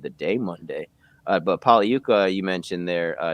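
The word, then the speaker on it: Pagliuca: day monday uh but pauli yuka you mentioned there uh it's a silent g it's an italian name he's one of the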